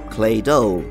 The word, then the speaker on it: Claydol: quite literally comes from clay doll but it also rhymes with dreidel a type of spinning